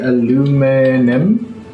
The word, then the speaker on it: aluminium: This is going to be Alu-mi-nium. Is that's not how you spell it, right?